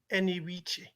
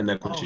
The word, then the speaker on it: Enekwechi: um Chawabuk Chawabuk Chawebuka Eniwiche? Yeah, not quite. It's Yeah. Chukwuebuka Oh, Enekwechi.